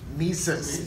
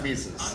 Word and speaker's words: Mises: Mises. M-I-S. It looks like Mrs. It looks like it says Mrs., yeah. But it's Mises.